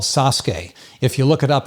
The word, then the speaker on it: Sasuke: the show is called sasuke if you look it up it's actually spelled s-a-s-u-k-e but it's pronounced sasuke it took me a